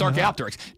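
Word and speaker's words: Archaeopteryx: We both said archaeopterics. No, you didn't. Yes, I did. It's archaopterics.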